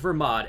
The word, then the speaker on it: Belmod: pick your poison but I go with Vermont as one of the intended ways to say his name as a pun on vermouth just the same as